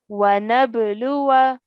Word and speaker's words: وَنَبْلُوَ: So we have to remove it from our pronunciation and pronounce it like this. So we are going to say وَنَبْلُوَ.